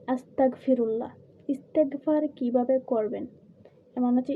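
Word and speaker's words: أستغفر الله: বাংলায় উচ্চারণ হচ্ছে আস্তাগফিরুল্লাহ।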